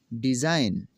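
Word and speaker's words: design: कैसे जी साइलेंट होगा? ये जी नहीं पढ़ा जाएगा इसमें। नेट, पिस्सू, रिज़ाइन इस्तीफ़ा देना, डिज़ाइन नमूना, रेन हुकूमत करना।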